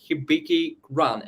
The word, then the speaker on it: HibikiRun: They are co-founders of the project HibikiRun. Am I right? Am I pronouncing it That's right?